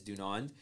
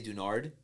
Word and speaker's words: Dunand: But like pronunciation is Dunand. But yeah. No one ever pronounces it that way. It's always Dunand. People somehow will change the last N to an R. So they'll say Dunard.